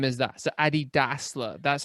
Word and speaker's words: Dassler: So Adi Dassler, that's how you pronounce the last name. So to my thinking is it's not Dassler, it's Dassler. So Adi Das.